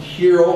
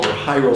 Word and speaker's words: Hero: How did Hero, or Hyro sometimes it's pronounced, do it?